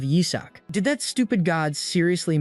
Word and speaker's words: Isaac: Mine flashes back to how his demon minions always mispronounced his name, calling him Isach instead of Yizak.